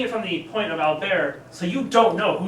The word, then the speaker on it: Albert: his name is Alber Albert as it's pronounced in English but it's French so um pronounced Alber um and he's the